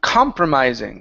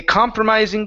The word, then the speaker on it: compromising: let's go to um compromising so the stress is at the very beginning a compromising position a compromising position